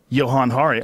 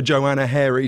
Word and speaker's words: Johann Hari: Johann Hari, I got it right. You said it right. You are literally the first person to ever say. I was saying to your fair that I once waited for 6 hours with a broken arm in an emergency room because they were calling for Joanna Hairy to come forward.